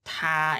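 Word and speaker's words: 他: it's the same because both he and she are pronounced like ta in Chinese is the same and transance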